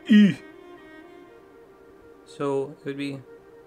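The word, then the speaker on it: Hüe: It is pronounced E. So it would be E.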